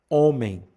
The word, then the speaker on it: homem: Por exemplo, ah, em português, nós temos a palavra homem. O H está ali, mas que a gente, só que nós não pronunciamos o H no início da palavra, então ele é chamado de brando.